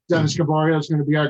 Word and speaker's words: Gaboriault: We have a great guest tonight, NHRA, PDRA top sportsman competitor, Division I's own Dennis Gaboriault. And if you're listening, Lisa, already, did you notice I pronounced it right?